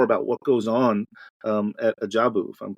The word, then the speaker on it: Ajabu: little bit more about what goes on at Ajabu, if I'm pronouncing that correctly. Yeah, you are. Ajabu I wrote it down phonetically so I could get it right.